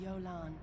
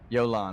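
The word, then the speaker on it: Jolan: I am Yolan. Yolan. I've been pronouncing it wrong this whole time.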